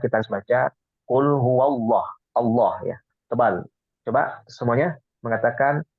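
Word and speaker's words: الله: itu harus karena iniim Allah ini adalah tafim maka kita bacanya tebal ya berbeda dengan bismillah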